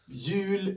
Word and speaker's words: jul: is pronounced Jul, Jul.